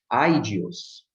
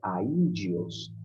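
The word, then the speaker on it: ἀΐδιος: Se fosse um ditongo, seria aidios, mas aqui é aidios. Então, a trema, ela tem a função de separar, de desfazer o ditongo, de desfazer o fonema, né, de modo que eles sejam pronunciados em sílabas diferentes.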